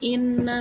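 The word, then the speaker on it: إِنَّ: Lalu ada ayat ke-6 yang berbunyi inna ma'al usri yusra. Nah, hukum kata inna, hukum tajwidnya itu gunnah. Nah, karena huruf nun bertasydid. Jadi, cara bacanya dengung dan ditahan 3 harokat.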